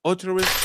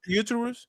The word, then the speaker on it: uterus: That's like uterus cancer.